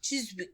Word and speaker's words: Chiswick: for your mouth isn't it cheese Wick chis Chiswick Chiswick cheis Wiz Chiswick chis we wewi okay